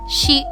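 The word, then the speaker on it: し: shi before we start if you notice it is written as a sheet with a s h i in english we pronounce she with the s-h-e like if we were to say she is a student but for this pronunciation make sure that it is she with an i and just a little note there is no s i pronunciation in japanese so there will never be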